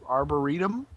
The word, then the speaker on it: arboretum: warps and my underground our I'm going to mispronounce it so leave me alone our Arboretum that's that's exactly correct that's yeah you're right